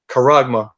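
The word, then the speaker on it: χάραγμα: in the Greek, and charagma. That's it right there. Let me see if Isa will say it for you. There you go. That's the pronunciation. Charagma.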